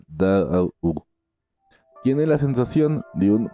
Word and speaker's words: Tao: No obstante que en chino se escriba ta o se pronuncia casi como si se escribiera da U.